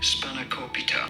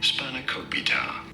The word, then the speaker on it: spanakopita: Savory spinach pie how do you go about pronouncing it spanakopita spanakopita so obviously this is a Greek item but